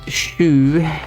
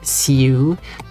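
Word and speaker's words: sju: go eight is liking rot and also is shu not su is it written as yeah it's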